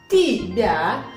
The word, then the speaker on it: тебя: Tibia, el acento cae en la ya, por eso la ya se pronuncia como i.